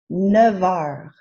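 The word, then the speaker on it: neuf heures: word starts with a vowel sound and its pronunciation gets joined to the neff before it with a v sound neff nevar we've learned how to specify a length of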